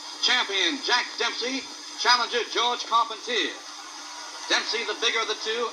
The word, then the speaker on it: Carpentier: jack dempsey advancing on george carpentier or caught pontier if you prefer the french pronunciation this was the first